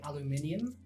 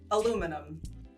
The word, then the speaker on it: aluminium: Another example would be probably, I would say, aluminium. Aluminum. There we go. Or, we also spell it differently. Yeah, and we argue very often about it's which aluminum. is the more correct one.